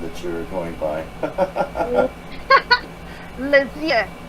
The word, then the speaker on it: Lesyeux: How do you pronounce that last name that you're going by? Lesyeux. Lesyeux.